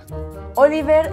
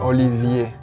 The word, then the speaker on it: Olivier: Oliver... Olivier.